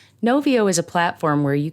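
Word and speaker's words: Knovio: can try something like novio that's spelled k-n-o-v-i-o novio is a platform where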